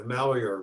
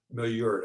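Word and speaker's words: Maillard: nerve number two the malware reaction and i think you're butchering the it's a french word it's a cooking word it's the brownie effect milliort i think you pronounce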